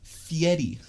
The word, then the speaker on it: Fieri: So I found out his last name is pronounced Fieri. No one says it. Yeah, I'm not gonna do that. It's like Ferrari, but Ferrari. Yeah. It's pronounced Fieri. It's so weird.